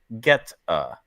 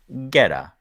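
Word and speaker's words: goetta: white pepper and cloves the name is pronounced geta g t hyphen u h Getta so yeah Getta can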